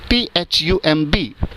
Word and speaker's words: thumb: The next word is THUMB. Pronunciation is thumb, thumb, thumb. B का sound इसमें नहीं आता है.